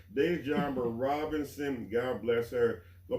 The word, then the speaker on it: Dejambra: Dejambra? Mm-hmm. Do I have to announce the S or the S silent? Dejambra. Dejambra. Okay, all right. See, I'm still learning. It's all right. Dejambra Robinson.